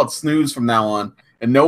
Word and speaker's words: snus: So Jeff the Chef Piper is here, and he says they told me in Swedish it's pronounced snooze.